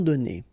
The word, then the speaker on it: donnés: Okay, so the good news is that you don't pronounce it. So donner, okay, so whether it would be without this final es or with es, you will pronounce it the same way.